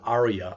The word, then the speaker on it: ARIA: thing is here again whenever you think you see anything with a-r-i-a i always pronounce it arya i think that's correct that means that it's